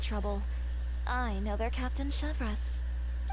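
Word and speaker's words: Chevreuse: I know their Captain Chevres. Oh, Chevres, okay, that's how you pronounce it.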